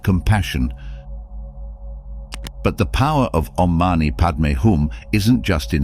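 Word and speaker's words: Om mani padme hum: but the power of ommani padum isn't just in its history it's in its meaning the Mantra is composed of six syllables om ma ni pad me and hum each syllable carries its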